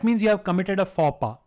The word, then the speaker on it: faux pas: Now this is something which you may have heard, and it's not fox pass. It means it is pronounced faux pas.